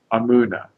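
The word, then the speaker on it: אמונה: Hebrew word is amuna a m u n a you know a lot of times it's spelled with an e imuna but the correct letter is now understood now more accurately is an A but uh how should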